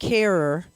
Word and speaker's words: Herer: since I worked with Jack Herer whose name rhymes with terror I learned that hemp